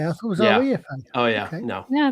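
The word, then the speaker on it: Rifa: REFA. Oh, yeah. Okay. No. Yeah, it's like the Latin pronunciation Refa, not Refa.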